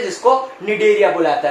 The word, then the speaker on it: Cnidaria: तो यहाँ पे ये जो सी लिखा है, ये सी साइलेंट होता है और इन लोगों को बोला जाता है निडेरिया।